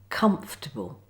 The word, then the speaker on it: comfortable: Good, so now it's time for the Silent O. Watch and listen first to how it's pronounced. Favourite. Chocolate Catholic. Comfortable. Now see how the words are spelt Favourite Chocolate Catholic. Comfortable, not favor it.